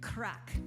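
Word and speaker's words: craic: all having some good crack okay crack is different in Ireland than it is here in the U.S crack is spelled c-r-a-i-c and it means good times so we're all having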